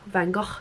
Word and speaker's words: Van Gogh: self-portraits then you've got van gogh van gaal if you want to pronounce that way that's still life andy